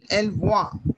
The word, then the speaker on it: voit: Elle voit, voit, Il voit. voit. Because N and T would be silent and E sound is A.